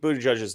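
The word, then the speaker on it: Buttigieg: joins the chat they should see how Pete booty judge's name is actually pronounced right um it's helpful it's helpful it's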